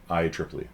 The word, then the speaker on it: IEEE: do you guys kind of see that yeah ieee yeah that's how you pronounce that it's the uh international electronic engineering